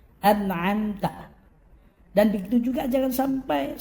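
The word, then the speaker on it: أنعمت: Di situ ada hamzah. Yang mula-mula hamzah, kemudian yang berikutnya ain. Jangan sampai salah baca.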